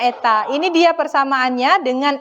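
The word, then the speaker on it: η: Nah, hari ini kita mengenal adanya huruf seperti huruf N. Ya, yang disebut dengan eta ya, bacanya eta.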